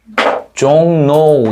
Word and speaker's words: 종로: 한 가지더 서울의 종로 앞말의 받침이 뭐예요? 이은 뒷말의 첫소리 리을 그럼 최종적으로 뭐가 어떻게 발음돼야 돼? 종 종노 이렇게 되겠지.